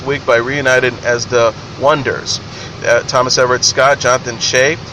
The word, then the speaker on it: Oneders: That Thing You Do follows the rise and fall of the Oneders, pronounced the Oneders, a one-hit band in 1964.